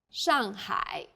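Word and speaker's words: 上海: a word in pinion the pronunciation for the famous city Shanghai is Shanghai the first syllable here is made of an initial and a final and a fourth falling tone the second syllable is made of an initial ha and a final I and a third falling then Rising tone hi Shanghai well done let's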